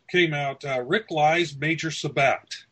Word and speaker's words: Sabbath: Today came out Rick Lies Major Sabbat. Sabbat. It's spelled Sabbath. S-A-B-B-A-T-H. But everyone seems to want to pronounce that Sabbat. So that makes some sense.